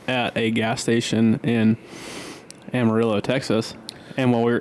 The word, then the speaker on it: Amarillo: It's a Mexican word, man. It's not Amarillo. Yeah. It's Amarillo. Amarillo. But, hey, no one in Texas pronounces it that way.